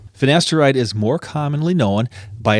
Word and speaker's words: finasteride: All right, the next one is finasteride or finasteride. Oh, shoot. That's what it is. Finasteride like it's spelled.